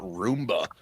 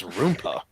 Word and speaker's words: Rooma: gosh darn name wrong it's not Roomba it's rooma damn it Christian what was